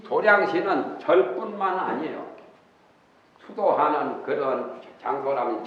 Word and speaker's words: 도량: 또 부처님 세계의 티끌수인 도량신이 있으니, 도량신이란 절의 도량이라고 그러죠. 절도 도량이고 공부하는 곳도 도량이라고 하고, 태권도나 당수도 하는 데는 도장이라고 그러죠. 도장인데 그 절에서는 도장을 도량이라고 이렇게 발음을 합니다.